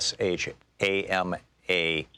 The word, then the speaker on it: Kshama: representing the third District Shama it's spelled starts with a kk SH am a Sawa and T org